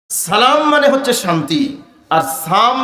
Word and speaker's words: সালাম: আসসালামু আলাইকুম ওয়ারাহমাতুল্লাহি ওয়াবারাকাতুহ শিখবো তো ইনশাল্লাহ আপনি যদি সালাম শব্দ না বলেন সালাম মানে শান্তি নিরাপত্তা যদি সাম বলেন সাম মানে হল মৃত্যু বুখারী শরীফের হাদিসের মধ্যে